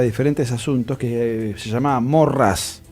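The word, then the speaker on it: Maurras: gusta citar para diferentes asuntos que se llamaba morrás maurrás se escribe carlos mauro morrás en un libro que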